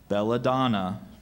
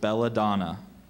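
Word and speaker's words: belladonna: warned him not to touch it can you pronounce it again please belladon is there any other pronunciations just belladon belladon b e l l a d o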